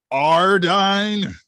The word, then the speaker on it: Jardine: a name is jardine a j is silent thank you ardein like an h that's not silent you're making a noise but it's not a j noise just flat aspirated hard talk about flat asses